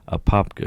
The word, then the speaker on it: Apopka: I wondered how you pronounce that. Apopka, yeah.